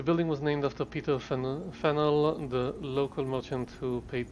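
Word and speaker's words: Faneuil: the new lynn hall don't let the french spelling confuse you the name of this building is pronounced fenuel or fennel getting it wrong is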